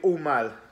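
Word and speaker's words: Aumale: The station West Ham fans will be getting off at is the Umal station. It's spelled A-U-M-A-L-E.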